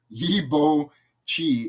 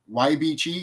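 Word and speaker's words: Yeibichei: it's what is the Yibo Chi and who is the clown? So I mispronounced that, but the YB Chi is spelled YEIBI. You got to separate the words. YEI space BI space CHEI.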